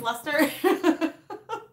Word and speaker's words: Leicester: I said it right. Okay, so it is Lester.